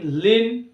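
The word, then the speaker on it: lean: এল ই এ এন, লিন, অর্থাৎ ই এর পরে এই লেটারটি সাইলেন্ট থাকছে।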